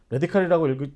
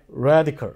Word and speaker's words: radical: 레디칼이라고 읽지 마시라고요. 네. radical. radical.